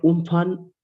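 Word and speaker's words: Amphan: helping hand of social media Super Cyclone aan pronounced for uman over West Central and adjoining It Center B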